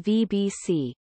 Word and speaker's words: BhBC: genitive case would be written as BHBC Alba, with the acronym pronounced VBC.